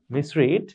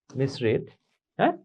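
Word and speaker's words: misread: লেখা থাকবে মিসহিট মিসহিট মিসরিড মিসরিড্যা এখানে মিসরিড থেকে এটার উচ্চারণ মিসরড হবে উচ্চারণটা একটু ঝামেলা আছে এখানে যদিও দেখতে একরকম কিন্তু এটার উচ্চারণটা হবে মিসরড অনেকটা অফসেট থেকে অফসেট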